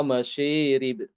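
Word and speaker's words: مشارب: Kemudian juga mengimalahkan alif yang terdapat setelah shin pada kata masyarib. Wa masyarib. Dibacanya wa masyirib. Wa masyirib. Diimalahkan seperti itu.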